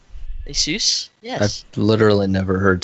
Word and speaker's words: ASUS: know it's pronounced ASUS ASUS just sounds like you're saying Jesus but yeah the ASUS